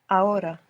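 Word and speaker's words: ahora: Spanish is a a this is spelled a h o r a a h o r a a a good is the H silent in every uh yeah unless it's c h in which case it's like English CH a is actually the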